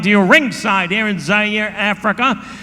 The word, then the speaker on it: Zaire: Howard Cosell coming to you ringside here in Zaire, Africa. Zaire, of course, is spelled Z-A-I-R-E. Some would pronounce it Zaire. They're wrong.